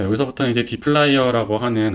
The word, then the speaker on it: dplyr: 그런 생각도 많이 드는데 디플라이어를 저는 이제 데이터의 D 그 다음에 플라이어라는 이름으로 많이 설명을 합니다. 그래서 플라이어라고 하는 거는 이렇게 생긴 그 공구를 의미해요.